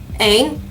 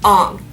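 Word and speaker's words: Aang: then made the movie none of the names are pronounced correctly at all eng is on saka is soka iro is eero okay and it makes no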